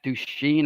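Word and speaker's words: Duchene: player Nashville Predators player Matt douche gene I think is how you say his name and it was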